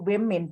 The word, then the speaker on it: women: wilayahnya wimin gitu ya Jadi kalau woman itu woman womaan itu women bacanya ini w min berarti betul jadi nggak satu jadi